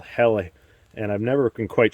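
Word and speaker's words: Helle: it's made off of a um company called heli and i've never been quite sure how to pronounce it but it's h-e-l-l-e so you can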